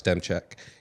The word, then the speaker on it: Demczak: first bring in Alex demek here um and I already pronounced it wrong it's no you said it you said it right did I say it right yeah hey as long as